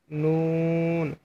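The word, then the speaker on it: ن: নম্বর মাখরাজ জিহ্বার আগা তার বরাবর উপরের তালুর সঙ্গে লাগিয়ে নুন হরফটি উচ্চারণ করবেন।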